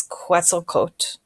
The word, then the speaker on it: Quetzalcoatl: I know there's an L at the end, but when I looked up how to pronounce it, it's Quetzalcoatl.